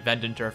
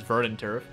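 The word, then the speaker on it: Verdanturf: to verin Turf town I actually got the name wrong the last time I was call it vendent Turf the entire time but yeah it's verant Turf and this episode we're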